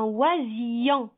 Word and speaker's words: oisillon: Maintenant, comment je vais lire? Un oisillon. Yon.